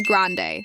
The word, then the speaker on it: grande: Quick pronunciation guide, it's grande, not grand, and venti, not venti.